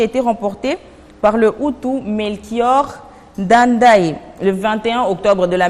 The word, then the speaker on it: Melchior Ndadaye: La prononciation... Melchior Ndadaye. Melchior Ndadaye.